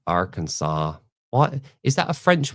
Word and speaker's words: Arkansas: Um I'm from Arkansas. Arkansas. Why is that a French word Arkansas or is it um Native American? Cuz you don't pronounce the S at the end, do you?